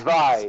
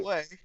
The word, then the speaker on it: Zwei: It's Action RPG Zwei. Sway. Zwei. Zwei. Zwei. Zwei, It's German. like It's a V. Zwei. Like Zwei. it's pronounced V. It's ZV, like AI, Zwei.